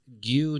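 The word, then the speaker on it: 牛乳: And milk is gu. Guy is spelled gu yu n yu.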